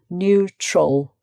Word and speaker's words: neutral: And then often with words ending al, it's not like owl, it's ul, neutral, neutral.